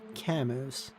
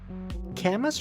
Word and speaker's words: Camus: You can call me Camus.